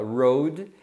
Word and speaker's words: rode: bicicleta, que é ri, no passado a gente fala road, tem a mesma pronúncia da palavra estrada, que é road também.